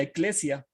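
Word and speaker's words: ἐκκλησία: asamblea la palabra asamblea en griego se pronuncia ekklesia por lo tanto se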